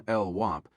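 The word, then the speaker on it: LWOP: He pronounced the last acronym LWAP, knowing that any cop, just as any criminal in the system would know it meant life without parole.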